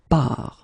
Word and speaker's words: pars: So the first form will be je pars, okay? Remember, you put this S, you don't pronounce it.